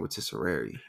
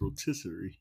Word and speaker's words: rotisserie: rotisserie I've been saying rotisseri it's rotisserie you for real like rotisserie chicken yes yes rotisserie I've